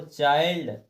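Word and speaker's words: child: बता रहा है कि बाद में एनडी आए या एलडी आए तो हम ज कते हो आई को आई ही पढ़ हैं देखिए माइंड देखो एंडडी लास्ट में दिया है देखो चाइल्ड इसमें एलडी दिया है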